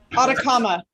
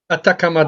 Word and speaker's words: Atacama: How you pronounce it? Atacama? Atacama. Atacama Desert.